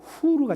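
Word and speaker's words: Hur: her, H-U-R은 여러분들 그대로 독일식으로 발음하면 후르가 됩니다.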